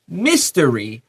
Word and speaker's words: mystery: 第一段的 mystery, we stress the first syllable.